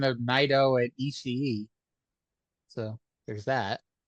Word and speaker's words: Naito: Yeah, it's Naito and Ishii. Ishii is kind of hard to say though. I'm probably guilty of just saying Ishii at times. I think Naito because like I don't know, just like I feel like you're supposed to say Naito and put in that extra syllable in the middle there. And I did for years, but it's I don't know, I finally got in the habit of calling him Naito.